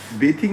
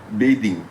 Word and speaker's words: bathing: টি এইচ আই এনজিটাকে বেথিং বেথিং বলছিল। তা আমি শুধরে দিয়ে ওকে বললাম যে ওটা বেথিং নয় ওটা হলো কারেক্ট প্রোনাউন্সিয়েশনটা হলো সঠিক প্রোনান্সিয়েশনটা হলো বেদিং।